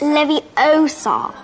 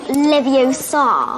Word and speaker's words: Leviosa: You're saying it wrong. It's Leviosa, not Leviosa.